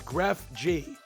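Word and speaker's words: TheGrefg: cousin Greg from succession oh it's graph G oh so as it's spelled it's graph G okay as it's spelled but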